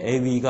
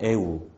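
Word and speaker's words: ευ: 아위가 아니고 그 다음에 세 번째 건 에이, 네 번째 게 에위가 아니고 에우, 다섯 번째도 역시 길긴 하지만 똑같이 에우, 그 다음에 오이, 그리고 끝에서 두 번째 게 이제 오위라고 안 읽고 우라고 있습니다.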